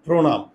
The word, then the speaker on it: প্রণাম: এই যে দেখো, উচ্চারণ লেখার সময় মূর্ধন্য দন্তন্য হয়ে যায়। উচ্চারণ লেখার সময় মূর্ধন্য কি হয়ে যায়? দন্তন্য। প্রণাম।